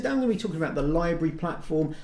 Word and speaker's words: LBRY: be talking about the library platform I've also heard it called libery in some quarters as well but I'm gonna be calling it a library I'm not sure if